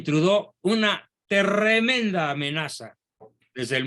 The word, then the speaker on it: Trudeau: pero digamos castellanizado Justin trudó trudeau con doble es el diptongo francés más frecuente true de se pronuncia Justin trudo una tremenda amenaza desde